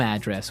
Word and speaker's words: address: So different from your home address where you live. Yeah. And there the stress is on the first syllable. Address.